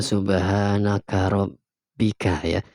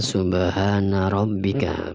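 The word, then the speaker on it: سبحان ربك: sebagai Allah Subhana ya Subhana robbika robbil Izzati Ya ini yang benar bacanya Subhana robbika bukan Subhana naga robbika Subhana robbika yang benar ya bukan subhanaka robika bener Subhana robbika robbil izzati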